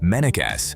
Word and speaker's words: Mennekes: It's also called Mennekes, pronounced Mennekes, after the German company that designed it in 2009.